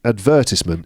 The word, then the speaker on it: advertisement: advertise and so you it would make sense for the noun to be advertised ment but no advertisement in British English I think I'm going